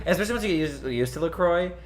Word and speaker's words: LaCroix: or is it looks if you look it up on the website they have a pronunciation and it's lacroix but some people say lacrosse i never said look